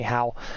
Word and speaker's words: Hao: The reason I say how instead of ho is because the guy behind it, his surname is how. It's spelled HAO or well